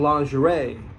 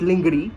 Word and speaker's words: lingerie: So you got to understand that, hey, someone wearing lingerie, not lingerie, okay? Lingerie. I'm just teaching the brown people, you know, who are watching how to pronounce this word.